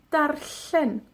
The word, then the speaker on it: darllen: que en la palabra darllen, que vimos ayer o antes de ayer. La doble L. Darllen. Para pronunciar la doble L, hacemos como una L, pero soplamos a ambos lados de la lengua.